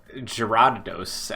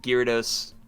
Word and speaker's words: Gyarados: uh by the way i think i've been pronouncing gyrados wrong since gen one i'm just going to continue saying gears i think you got it i remember gerardos at first but i think gyarados is correct it's probably one of